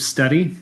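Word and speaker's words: Stedi: I'm the founder and CEO of Steady. It's spelled S-T-E-D-I.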